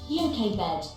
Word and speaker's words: Jochebed: Iochebed, pronounced Jochebed. The name Jochebed is a feminine name of Hebrew origin, meaning the glory of God.